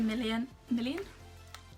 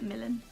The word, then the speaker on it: Millen: Oh, Lydia Million? That's definitely not how you say her name. Lydia Millen and Ali Gordon.